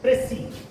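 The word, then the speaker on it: précis: प्रेसी इसको बोलते हैं प्रेसी, और वर्ड है ये फ्रेंच। फ्रेंच वर्ड है, एक्चुअल में कहते हैं इसे, ये इसकी प्रोनाउंसिएशन प्रेसी, प्रेसी खींच कर लिया।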